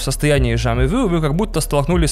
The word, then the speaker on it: jamais vu: У дежавю есть антоним, это jamais vu, или если точно следовать французским правилам ударения, то, наверное, jamais vu.